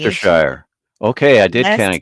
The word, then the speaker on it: Leicestershire: And Gavin Blackburn is assisting us in our pronunciation. Leicestershire.